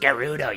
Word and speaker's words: Gerudo: commands a lot of respect every day it's pronounced Gerudo you stupid but it belongs